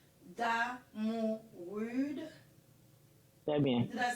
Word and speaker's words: Damourude: Damourude.